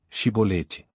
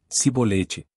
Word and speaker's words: chibolete: Se respondesse que não, diziam, então diga chibolete. Se ele dissesse cibolete, sem conseguir pronunciar corretamente a palavra, prendiam-no e matavam-no no lugar de passagem do Jordão.